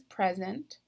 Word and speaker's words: present: is the noun column the example that they gave us is present the stressed or accented syllable is the first syllable and these words okay